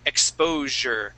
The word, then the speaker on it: exposure: word here would be exposure so that s is going to make a sound exposure okay exposure good nice